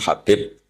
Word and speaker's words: Habib: Ada yang nulis Abi Abdurrahman Habib Asulami. Itu di harakatnya kitab itu ada yang nulis khubab yang benar. Oh, nggih. Yang benar itu bacanya habib.